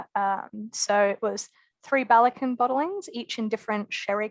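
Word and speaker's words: Ballechin: who aren't familiar you're with balikin it is pronounced bellicon that one i do have down pat thankfully um though i do enjoy people mispronouncing it um the the aussie way is uh belichin yeah yeah that's not the worst way to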